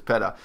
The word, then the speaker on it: PETA: Ethical Treatment of Animals, PETA, or as some of you like to say, PETA, totally different organization. Those are two completely different organizations. Don't get them confused. Anyway, my preferred pronunciation is PETA.